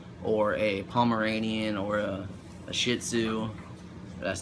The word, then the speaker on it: shih tzu: a Pomeranian or a shih tzu that's not a cuss word that I'm pretty sure that's how you pronounce that yes even though it's